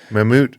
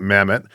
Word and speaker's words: Mammut: of the major ones mamut I'm glad I know how to pronounce it I always call it Mammoth right I got the